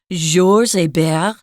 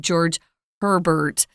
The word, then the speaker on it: Georges Hébert: We have a military officer whose name was Georges Hébert. That's the French pronunciation, or George Herbert. They don't actually say the H sound in French, which is kind of interesting, but say it how you will.